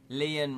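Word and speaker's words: Lian: Leon rhymes with Ian, or Leanne rhymes with Anne. It's actually Ian, because it's spelled L-I-A-N, but my brain, for some reason, won't have it.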